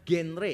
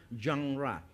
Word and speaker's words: genre: jenis sastra tertentu atau istilahnya adalah janra. Kalau orang-orang umum biasanya membacanya genre. Kalau saudara tahu genre itu berarti jenisnya. Bisa jenis musik, bisa jenis sastra. Nah, itu harusnya bacanya jangra.